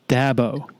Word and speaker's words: Dabo: to have an issue with this the correct pronunciation is dabo okay it drives people crazy it drives people